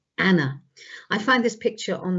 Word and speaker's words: Anne: her name is soon shortened to anne um pronounced in the continental way as anna i find this picture